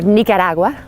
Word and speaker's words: Nicaragua: and I served in Nicaragua or Nicaragua if you say it properly in Spanish and I was there